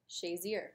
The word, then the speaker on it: Shazier: earn the weekly huddle bad again the keyword shayer am I saying it right yeah you're saying